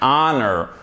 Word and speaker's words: honor: Donc, on ne prononce pas le H pour ces deux mots. An honor, an hour.